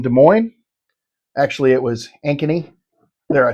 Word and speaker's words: Ankeny: our hunt in De Moine actually it was Ankeny there I said it right Luke are you